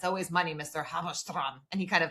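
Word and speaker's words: Halberstram: says Halberstrom, not Halberstrom. And does that mean something in German? No. So when the ST sound in Yiddish, which is the Germanic language, is pronounced with the sh.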